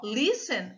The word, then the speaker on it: listen: Ó, listen, a sílaba forte está aqui no lis.